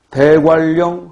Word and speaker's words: 대관령: 대관령 할 때는 리을, 리을, 유음화가 일어나지만 공권력 할 때는 니은, 니은, 비음화가 일어난다.